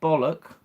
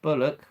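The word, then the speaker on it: Bullock: that's me being silly Sandra bollock bulock sorry bulock I can't pronounce the words properly Demi Moore the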